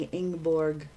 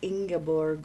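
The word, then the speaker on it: Ingeborg: um the character inorg I think that's the way they say the name i n g e b o r g I've been pronouncing in Borg but a lot of times when you're reading to yourself you kind of you know skip over it or whatever but uh I think it's ingaborg or something to that effect how if anybody knows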